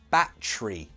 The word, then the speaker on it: battery: for example sorry my battery died practice your pronunciation with battery notice that in British English we say bat tree that tree American English battery battery British English battery say